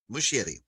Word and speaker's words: Muschietti: So correct me on the spelling of this, but our pronunciation. Andy Muschietti? Muschietti.